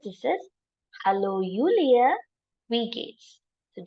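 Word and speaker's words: wie geht's: this in German pronounce this is hello Julia we Gates so J is silent here how do we remember again hello ulia we Gates we talking about gate gate right but it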